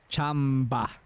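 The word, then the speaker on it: tsamba: It It's spelled It's spelled with a ts, but it's actually the sound is actually ch. Chamba.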